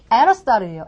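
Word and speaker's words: Aristotle: 이게 영어식 발음은요. 에러스타르예요. 에러스타르. 너무 굴렸나요? 근데 이렇게 굴려요, 원어민은. 에러스타르 이렇게 했을 때 여러분들이 과연 듣기에 나왔다고 생각해보세요. 아리스토텔레스 알아낼 수 있을까요?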